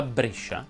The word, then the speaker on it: Brescia: non sono a brescia ma brescia si pronuncia con la è chiusa e perciò quest'estate vieni